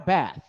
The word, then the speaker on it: bath: Have a bath. I can't remember the last time I had a bath. Yeah, that's good. Good sound. Don't pronounce TH like a F.